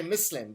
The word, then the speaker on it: Muslim: And of course, in Arabic, you would say Muslim.